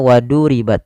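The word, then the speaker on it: وضربت: Jangan dibaca waduribat, nanti huruf dal, tapi dia huruf dha. Wadu ditebalkan huruf dha-nya, waduribat, waduribat.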